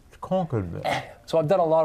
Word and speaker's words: Concord: the historic area of Concord mass oh wow so you're not saying it right Concord so I've done a